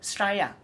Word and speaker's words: Australia: You know that some people pronounce Australia like Straya, and that's okay.